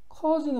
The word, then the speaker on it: cause: cause는 원인입니다. 발음도 중요한데요. au는 영어에서 오소리 납니다. 미국 사람들은 오소리를 거의 안 내더라고요. cause보단 cause에 가깝습니다.